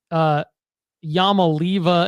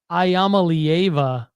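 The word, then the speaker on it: Iamaleava: Let's try to pronounce his name correctly, because we were calling him Yamalieva, and it's actually Ayamalieva, I believe is how you say his last name.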